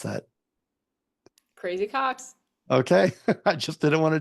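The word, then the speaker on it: Crazy Coqs: The crazy, how do I pronounce that? Crazy Cox.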